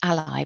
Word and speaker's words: ALLi: independent authors but they're known as ally a-l-i but pronounced ally because they're the self-publishers ally i like it when